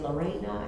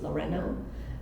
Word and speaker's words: Lorena: You know, I correct people when they say Lorena. I say no, my name is Lorena, right? I wanna make sure that it's pronounced in how my mother saw pride in that name.